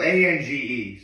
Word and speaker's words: Ange: Ange or Angie? It's spelled A-N-G-E, so I think it's just Ange. Okay.